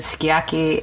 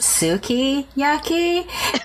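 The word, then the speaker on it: sukiyaki: the being in her restaurant and I ordered yaki and I was told that it was actually it's pronounced Suki yaki and it was worse because of the accent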